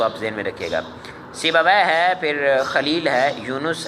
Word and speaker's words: سیبویہ: ان کے درست نہیں ہوتے ناموں کے، یہ تلفظ میں بیان کر رہا ہوں، اس کو آپ ذہن میں رکھیے گا۔ سیبویہ ہے، پھر خلیل ہے، یونس ہے اور اخفش